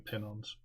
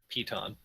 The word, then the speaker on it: piton: You can't tell if they're also climbing pin-ons. I'm pretty sure I'm mispronouncing that. Piton. Piton, that's it. There's a T.